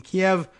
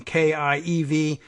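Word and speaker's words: Kyiv: AP switching over from kie v 2k y IV I guess trying to encourage a better pronunciation of Kiev rather than Kiev anyway going back to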